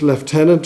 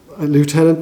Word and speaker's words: lieutenant: Um and uh he he he'd served at first as a uh first left tenant or lieutenant depending on what um pronunciation in the core of engineers.